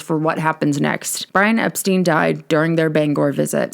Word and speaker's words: Epstein: about to do so Brian's last name is pronounced Epstein not Epstein publicly as in the Press particularly in the US Brian's last name was pronounced as Epstein due to understanding that to be the more